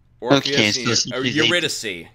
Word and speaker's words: Eurydice: Orpheus, okay, so Eurydice. Eurydice is how you pronounce it.